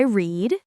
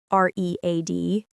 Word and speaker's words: read: Today I read r e a d. Yesterday I read r e a d. Same spelling, different pronunciation. So even though we read every evening, the sound changes in the past tense.